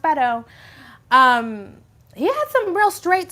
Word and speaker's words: Beto: what I'll say about Beto and it is pronounced Beto he had some real straight talk about race